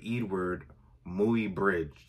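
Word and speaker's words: Eadweard Muybridge: This was, I think, shot in 1872, but it took the photographer, his name is kind of weirdly spelled, but I think it's pronounced Edward or Edward Mooey Bridge.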